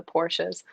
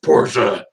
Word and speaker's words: Porsche: getting smoked on the highway by all the porsches right yeah right and and that that is the correct pronunciation of porsche because a lot of people say horse will correct you very quickly it's not porsche's porsche got it i've heard i've heard both in